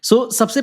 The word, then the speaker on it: SaaS: सो सबसे पहले हम बात करते हैं दोस्त कि व्हाट इज सैस? कुछ लोग इसे सास भी बोलते हैं। आप जो भी प्रोनाउंसिएशन मन करे आप कर सकते हैं।